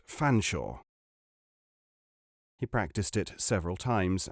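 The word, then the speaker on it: Featherstonehaugh: thing just as featherstone is always to be pronounced fanshawe he practiced it several times and nodded with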